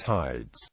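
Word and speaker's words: Haides: ever not attested the name as it came to be known in classical times was hides later the Iota became silent then a subscript marking and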